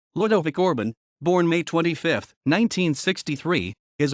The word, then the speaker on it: Ludovic Orban: Ludovic Orban Romanian pronunciation Ludovic Orbin born May 25th 1963